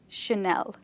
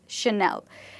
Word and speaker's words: Chanel: But this word is not called a channel, it's called Chanel. This name is called Chanel.